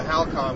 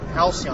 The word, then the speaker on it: Halcyon: But would the home, the Halcon, would that actually Halcyon? I'm sorry, I knew I was going to pronounce it wrong.